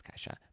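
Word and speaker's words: Ke$ha: how to say that we pronounced it cat dollar sign ha no we didn't we knew it was kaisha but this one is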